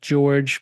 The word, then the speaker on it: Jorge: connect yeah LinkedIn startup George but also startup George or it's spelled j o r g as we discussed